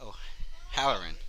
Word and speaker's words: O'Halloran: theater work as well uh make sure I pronounce this right Brian o howerin yeah you got Irishman obviously being a first